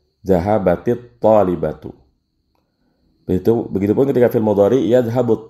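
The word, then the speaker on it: ذهبت الطالبة: Namun cara bacanya kalau ada yang seperti ini dikasrohkan Zahabatit talibatu.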